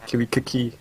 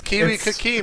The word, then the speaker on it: KiwiKaki: to catch Sheth versus Kiwi Kiki. So, You gotta stop that. No, it's Kiwikaki, man. That's how it's the pronounced.